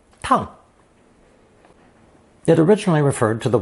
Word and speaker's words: 趟: Pronounced fourth tone, tang, tang.